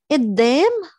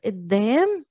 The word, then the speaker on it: قدام: قدام is in front of, قدام, and we pronounce the qaf as a glottal stop, قدام.